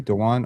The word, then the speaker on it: Dewan: Am I saying that correctly? Dewan or D1? Yeah, Dewan's fine. That's how you pronounce it.